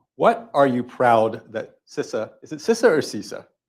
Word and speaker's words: CISA: So there's a little sort of, I think something on Twitter about, how do you pronounce it? And it's CISA. It's CISA.